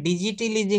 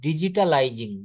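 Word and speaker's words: digitalizing: হবে using ডিজিটাল technology এখানে ডিজিটালিজিং নাকি একটা বলেছিলেন প্রথমে এটা উচ্চারণ করতে হবে ডিজিটালাইজিং ডিজিটালাইজিং ডিজিটাল বাংলাদেশ মিনস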